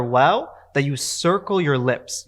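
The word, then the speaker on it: واو: is pronounced as we much more like the english w than it is the english v so make sure that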